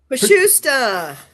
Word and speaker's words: Pashusta: Pashusta. It's a Czech name, so it's kind Pashusta.